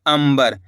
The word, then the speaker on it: अंबर: तो मिलके बन जाएगा अंबर। इस शब्द के अंदर अपन ने आधा म का उच्चारण करा है। कैसे? अंबर। वो क्यों करा है? क्योंकि आ के ऊपर अनुस्वार की मात्रा है।